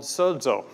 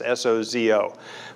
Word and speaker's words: sozo: it comes across as soco but when it's pronounced in greek there's there's a d in there because the greek letter is a is a double letter so when i say